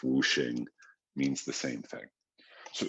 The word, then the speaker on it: 五行: way of spelling the same thing it's still pronounced whooing means the same thing so so what is